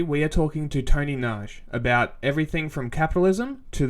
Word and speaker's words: Nagy: My last name is Nagy, like massage.